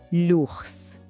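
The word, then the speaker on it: l'ours: E lá naquelas florestas em Laforré a gente pode encontrar este animal enorme, Lurs. Assim como em chá, a última letra, o S, é muda, a gente não pronuncia, simplesmente lurs, o urso.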